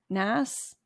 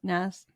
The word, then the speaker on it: NaaS: you pronounce it wait do you guys pronounce it like Nas or software as a service SAS are we just saying s-a-a-s-p-a-a-s Nas all right so I